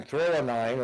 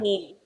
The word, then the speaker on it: threonine: and then threonine, it's spelled, I'm probably not saying that right, it's spelled THREONINE.